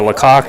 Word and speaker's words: Lecoque: from amanda appreciate that i believe uh lecoque is the correct uh pronunciation so thank you for